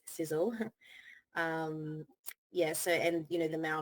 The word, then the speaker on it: Sisel: So Tom Senior came up with that acronym, and people say Sisel, but it's pronounced Sizzle.